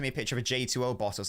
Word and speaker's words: J2O: a picture of a j2o bot I was like how do you pronounce that I've never heard anyone call it j20 everyone calls it j2o that's that's surely not